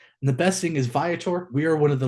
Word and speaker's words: Viator: little bit about vietor I've heard this pronounced so many ways I've heard vator vator veor again it's called vator and just a little